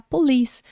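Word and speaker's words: police: Liz tá vendo que a palavra termina com e-polis que significa polícia é uma palavra que termina com e a gente vai ignorar o som da letra e aí a gente vai falar Polis e aqui na transcrição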